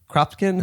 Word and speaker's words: Kropotkin: Yeah, in the Venona book here, it says he's named after Peter Kropotkin.